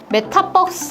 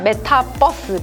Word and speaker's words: Metaverse: It's the 'verse' from the word 'universe'.. (Ah.. It wasn't a bus...?) It's a 'Metaverse'? (LOL) (Laughter) Metaverse.